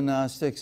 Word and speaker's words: Gnostics: It's spelled Gnostic, but don't pronounce it that way.